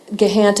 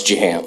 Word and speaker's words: Jahant: Mr. Gahant, and I'm saying your name incorrectly. Can you pronounce that for me? It's Jahant.